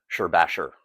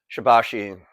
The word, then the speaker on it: Shibashi: know without mentioning that some might say the pronunciation is Sherbasher, but we've always heard it is Shabbashi, place where we were last introduced to it.